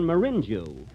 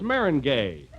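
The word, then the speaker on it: meringue: know I'm famous for my lemon marinu marinu why that's Maring gay Mar oh is that the way it's pronounced oh see you learn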